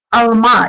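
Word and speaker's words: alma: Ударение на последний слог. Смотрите, алма. Если мы скажем алма на последний слог, то тогда будет яблоко.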